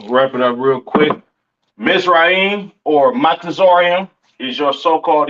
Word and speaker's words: Mizraim: Uh, Mizraim, all right, aka your Egyptians, all right, pronounce Matazarium in the Hebrew, Matazarium in the Hebrew, all right.